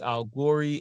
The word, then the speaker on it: A1gory: And my name is Al Gory, aka A1gory, or you could say and only baby Al Gory.